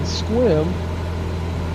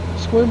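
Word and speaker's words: Sequim: All these mountains block those clouds, and so in Squim, that's spelled S-E-Q-U-I-M, Squim, Washington. The climate, Squim is in the rain shadow of the Olympic Mountains, so annual precipitation is only 16 inches.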